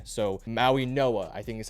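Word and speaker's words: Mauigoa: I believe the G is pronounced with an N. So, Maui Noah, I think is how you say it.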